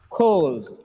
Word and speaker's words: calls: The last sound should be z when a noun has l sound at the end. When it gets s at the end, it should be z sound, right?